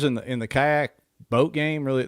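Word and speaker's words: BOTE: stuff and then boat i think it's pronounced boat b-o-t-e the inflatable kayak company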